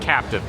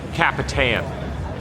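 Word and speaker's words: El Capitan: It's pronounced a little bit, not Captain. It's Capitan.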